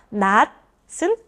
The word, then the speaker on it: 낫: 이것은 드로 대체해서 드로 대신해서 발음 나요.